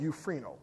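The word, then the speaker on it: εὐφραίνω: that word fared f-a-r-e-d is the Greek word euphrino spell e-u-p-h-r-a-i-n-o euphrino it's pronounced euphrino it means to Gladden to make joyful to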